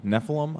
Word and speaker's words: Nephilim: Nephilim, I'm pronouncing that correct.